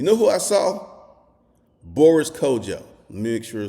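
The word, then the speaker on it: Kodjoe: Boris Kojo.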